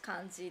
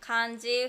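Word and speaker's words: 漢字: Then they borrowed kanji from China, Chinese people, called Han. This kanji, this is kanji. Kanji. This is pronounced as kan. And this one is pronounced as ji in Japanese.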